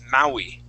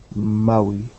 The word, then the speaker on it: Maui: And that that word there is Maui. Maui. Yeah. Those are Hawaiian words. Sometimes they're difficult to pronounce.